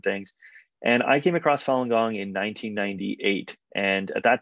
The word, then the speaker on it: Falun Gong: well let's start with your own relationship with falun gong which am I pronouncing that correctly yep yeah so I was